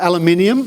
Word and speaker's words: aluminium: made out of uh aluminium or how the Americans say aluminum it's a different it's